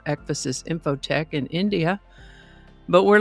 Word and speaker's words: ecphasis: I would have pronounced it ecphasis, but I found several pronunciation guides that indicated it is pronounced ecphasis, sort of like emphasis only with an ec instead of an m. So, ecphasis it is.